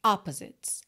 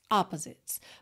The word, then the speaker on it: opposites: fora da música né Essa palavra opposites tem a sílaba tônica na primeira sílaba opposites opposites mas aqui no caso